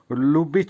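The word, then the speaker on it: любить: বা সিং ভার্ব লুবিচ লুবিচ উচ্চারণ হবে লুবিচ লুবিচ এর বাংলা হবে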